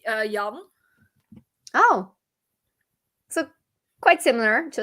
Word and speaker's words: Jan: for us it's uh yum oh so quite similar to a different pronunciation yeah yeah for for us like we don't have the the US uh suffix for us it's just j-a-n um oh yeah yeah